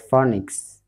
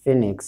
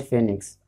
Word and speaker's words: Phoenix: you find many people I pronouncing it as pronouncing it as phonics but then I looked at the pronunciation I I see many people calling it Phoenix so I'll call it Phoenix so I'll talk about this from called Phoenix